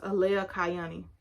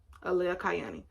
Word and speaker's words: Alea Kayani: Her name is pronounced Alea Kayani, by the way. Alea Kayani. I'm going to put the spelling down here. Alea Kayani. That's how you pronounce it.